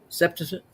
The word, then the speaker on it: Septuagint: Septuagint.